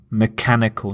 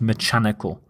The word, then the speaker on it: mechanical: do a particular task note the pronunciation of the ch is the k sound so mechanical mechanical not not mechanical some example sentences it